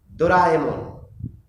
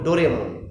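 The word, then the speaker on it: ドラえもん: ডোরাএমন, আমরা ভুল করে অনেক সময় বাচ্চারা বলে ডোরেমন। ডোরেমন আসলে মূল উচ্চারণ হচ্ছে ডোরাএমন, জাপানিজ ডোরাএমন। পকেট থেকে অনেক কিছু বের করে, আপনারা জানেন ডোরাএমন, সবাই জানে, সবাই ডোরাএমন দেখে।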